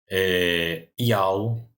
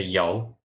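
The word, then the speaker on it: יה: do nome de Deus, que isso daqui se pronuncia Yal ou Yahu, né? A pronúncia mais usada aí é Yal, tá? É como se pronuncia isso daqui.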